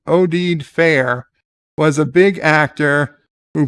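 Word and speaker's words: Oded Fehr: a Starfleet ad Al ODed Fair pronounced odid fair was a big actor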